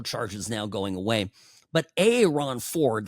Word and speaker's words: Aaron Ford: But a Ron Ford, that's how he pronounces his name, uh, attorney general here would be a absolutely terrible governor.